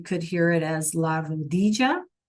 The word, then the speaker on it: rodilla: Again, that double L sometimes is pronounced as a J. So you could hear it as la rodilla, right?